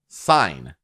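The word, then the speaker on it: Sein: in the spirit named sign that's s e i n almost like a german pronunciation in a way sign can shoot spirit flames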